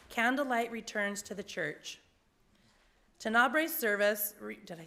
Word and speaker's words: Tenebrae: special service called a Tenebra. Did I say it? Tenebrae. I knew I was going to say it wrong.